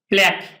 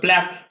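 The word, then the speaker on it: plaque: install মানে স্থাপন করা প্ল্যাগ প্লেক উচ্চারণ প্ল্যাক প্ল্যাগ মানে হচ্ছে নাম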